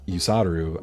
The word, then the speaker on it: Usaru: That's where Andy Usaru comes from, because Usaru, as I said, is the Eastern pronunciation of Hussar. That's how you say it in Japanese.